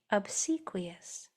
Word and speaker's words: obsequious: This is accented right here. Obsequous. How'd you do? Yes or why or a obsequious?